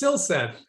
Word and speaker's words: Silseth: Name is Chase Silseth. Is that how you pronounce it? Sleestack, like from Land of the Lost. I think it's Silseth. It looks like. Don't worry, Hoop. You're saying it the right way.